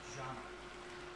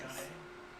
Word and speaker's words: Jana: Her name is pronounced Jana. Oh, Jana. It is pronounced John with an A. Okay, I apologize. John A.